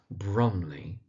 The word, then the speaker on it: Brumley: The place it's set is called Brumley, so that's Brumley.